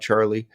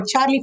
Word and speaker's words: Charlee: to hearing more about Charlie as time goes on well it definitely rhymes with Lee that's right that's right